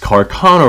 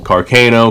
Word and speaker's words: Carcano: to be the M38 carono rifle Carano carono however it is you want to pronounce it as long as you know what I'm saying I really don't care how it's pronounced so the M38 Carcano